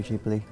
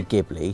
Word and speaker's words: Ghibli: actually I might wrong I go for both pronunciations I'll say gibli throughout the course of this video and you say jibli or did you want